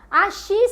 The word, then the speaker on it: Ashi: Axi se escreve A-S-H-I, se você quiser anotar aí, tá?